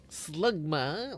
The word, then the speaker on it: Slugma: Vulub Slugma. Oh man, it rhymes with Smegma.